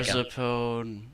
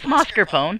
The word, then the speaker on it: mascarpone: I get past it, it's gonna be Marzipone. What? It's mascarpone. Mascarpone is a type of something that's We're food-based.